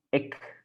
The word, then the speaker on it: ik: Ik. We say it very short, right?